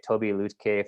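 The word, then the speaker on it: Tobi Lütke: was fantastic this is by toby lootcave that's how actually pronouncing his name he's the ceo of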